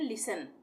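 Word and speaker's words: listen: silent रहेगा तो यहां एस टी ई एन है तो इसको हम क्या पढ़ेंगे लिन नहीं पढ़ेंगे इसको हम पढ़ेंगे लिसन लिसन या लिसन ठीक है तो लिसन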